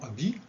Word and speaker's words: habit: Les lettres muettes du mot habit, on a le H au début et le T à la fin.